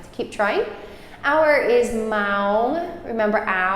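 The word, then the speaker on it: ម៉ោង: keep trying our is ma remember rhymes with cow m m so it's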